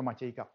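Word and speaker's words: Matiegka: bude zajímavý tím že se vrátí k formě zápisu svého přímení podle svého dědečka od té doby se píše takhle ale Čte se to Matějka eh ten teda Krom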